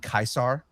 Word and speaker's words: Caesar: I I could not they kept saying Kaisar in the game. That That's how you say it. That is correct. Latin. That That is exactly how you're supposed to say it.